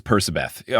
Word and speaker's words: Percabeth: He says Percabeth. On a recent press tour thing for the TV show, he said Percabeth.